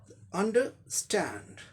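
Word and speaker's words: understand: अंडरस्टैंड, अंडर, ये British में अंडरस्टैंड, इसमें क्या हो जाएगा? आर का रॉ साउंड भी आ जाएगा यहाँ पर। तो ब्रिटिश में आर साइलेंट होगा, अमेरिकन में आर साउंड का रॉ साउंड भी होगा, है ना, क्योंकि ये कभी भी साइलेंट नहीं होता है अमेरिकन इंग्लिश प्रोनाउंसिएशन में।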